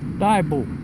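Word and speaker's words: Diabo: They changed it to D-I-A-B-O, Daibo. I guess a lot of people couldn't pronounce that. Right. So they made it short, Daibo.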